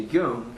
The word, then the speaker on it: Jung: Carl Jung, and that's spelled weird. It's with a J. J-U-N-G.